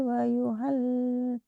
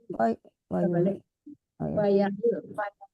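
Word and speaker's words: وَيَحِلُّ: Man ya'tihi adzabun yuhzihi wa yuhal wa Waya, yuhal waya, bukan wayuhal tapi waya.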